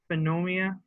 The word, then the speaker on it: pneumonia: He has pneumonia, or pneumonia. Pneumonia. The P is silent.